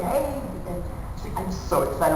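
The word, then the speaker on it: Haag: not kyle hebert h h-a-a-g hey not not she's like just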